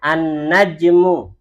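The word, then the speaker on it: النجم: An-najmu. Jimnya disukun. An-najmu.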